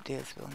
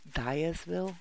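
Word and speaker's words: Diersville: here we're coming to deersville now guys will deersville Dives will people pronounce it I think it's meant to be pronounced Dyersville because it's seven days to die right but a lot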